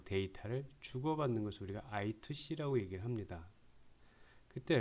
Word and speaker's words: I2C: 직렬 통신인데 보통 이제 이 이렇게 읽을 때 우리가 I2C 또는 다른 말로는 I square C, 그래서 I2C 혹은 I square C라고 읽습니다. 근데 뭐 I square C보다는 I2C가 이제 발음하기가 편하니까 I2C라고 얘기를 하겠습니다.